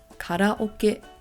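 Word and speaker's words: カラオケ: have everyone's favorite karaoke in Japanese we pronounce this as karaoke there's a little bit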